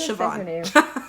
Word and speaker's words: Siobhan: how you say her name her name is siobhan thank you again pronunciations not my best it's not my strong